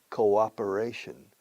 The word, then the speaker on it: cooperation: Cooperation. Como koala. Koala bear, koala, cooperation and development.